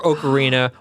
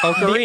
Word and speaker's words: Ocarina: Wait, you say Ocarina. The O in Ocarina, but you say the O in Mario.